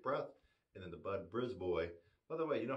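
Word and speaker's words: Brisbois: i s BRZ boy it looks like you might pronounce it brisb but no bris boy b r i s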